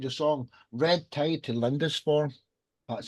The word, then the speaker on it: Lindisfarne: Introduce yourself, Kevin, and the story behind your song, Red Tide to Lindisfarne.